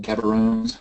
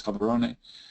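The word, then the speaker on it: Gaborone: as it was called then by the British pronounced gabaron but the satuan pronunciation is cabaron um and shows you the original idea was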